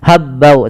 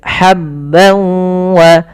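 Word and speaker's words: حَبًّا وَ: Linukhrija bihi habban wa, ha kecil, hati-hati jangan sampai dibaca habbau, tapi habban wa, tanwin bertemu waw sebagaimana yang tadi, yaitu idgham bi gunnah.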